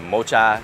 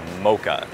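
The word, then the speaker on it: mocha: It's not "mo-cha," but "mo-ka." The 'c' and 'h' are pronounced just like a 'k': And another cafe .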